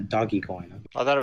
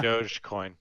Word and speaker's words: Dogecoin: ok I like it how you pronounce a doggie coin dogecoin yeah I always thought it was doggy obviously you're a failure